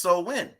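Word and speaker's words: Samhain: which goes back to so when right which is actually spelled s-a-m-h-a-i-n but it's pronounced so when right it's a pagan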